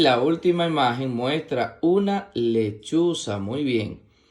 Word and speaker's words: lechuza: Y la última imagen muestra una lechuza. Muy bien. La palabra lechuza se escribe con L-E, que suena le, C-H-U, que suena chu, Z-A, que suena sa. Lechuza, lechuza.